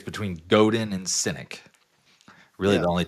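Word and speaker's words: Godin: Am I pronouncing their names wrong? It's definitely Yeah, it's Goden and Synynic.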